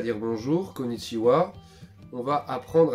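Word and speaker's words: こんにちは: en japonais deous pour dire bonjour On dit kichiwa je vous conseille de vous entraîner à le dire en même temps que que moi kichiwa donc ensuite on a appris à dire bonjour konichiwa on va apprendre à se présenter quand on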